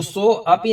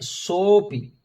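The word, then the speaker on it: सोऽपि: यशसा वर्धते सोपि, यहां पर सोपि में एक एस की आकृति है, एस का चिन्ह बना हुआ है। उस एस का उच्चारण जो होता है वैसे अ होता है, लेकिन यहां पर ये साइलेंट रहता है, मौन रहता है। तो सो अपि नहीं बोलना है हमको।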